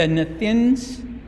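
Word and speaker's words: Nethinim: There's a wonderful story in the Old Testament about the Nethins. They're pronounced Nethin.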